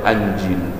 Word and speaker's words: Injil: Al-Injil, tapi ada yang baca Al-Anjil. Jadi Syekh Hasan Basri itu nggak mau bilang Injil, tapi bilangnya apa? Anjil. Awas tuh, ya, bifathil hamzah kalau beliau membacanya Anjil.